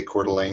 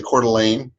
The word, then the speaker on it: Coeur d'Alene: And I'm sorry, John, I have to laugh every time you say Coeur d'Alene, because you say it like it looks, but it's actually Coeur d'Alene.